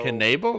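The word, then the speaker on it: Knebel: I thought it was just Nebel. No, So it's okay, Yeah, that's I news to thought. me. Yeah, So Canable. That's how you say it. It's 3 syllables.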